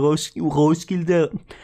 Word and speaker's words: Roskilde: Like I said, we went to Roskilde. That's like how they say it. And Roskilde, and we went to on Friday a bar